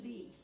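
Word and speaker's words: lies: And that's where it's barrel fermented and aged, sur lee. The lee is spelled L-I-E-S. It's a fun little French word.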